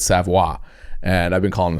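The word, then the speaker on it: Savoie: absolute how do you spell it s-a-f-r-o-y savoir yeah it's French so s-a-v-o-i-e damn I was hoping it was like Patrick it's the same French sound you want to it's like Savoy yeah it reads Savoy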